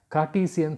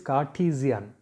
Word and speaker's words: Cartesian: is also known as cartesian system that is the pronunciation is ca t z n that means r is silent so it is cartesian cartesian system and renee